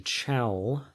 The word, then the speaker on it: chalcogens: And then underneath oxygen, the oxygen group is called the chalcogens. Similar to chalk.